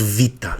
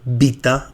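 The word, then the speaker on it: βήτα: Then we move to this letter is called vita. Not beta. Vita. It gives us a sound vu.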